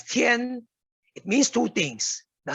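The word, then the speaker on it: 天: for is heaven heaven heaven in chinese me is is pronounced as tien it means two things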